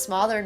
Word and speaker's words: smother: No, but actually, how do you pronounce smothered, mate? It's pronounced like mother.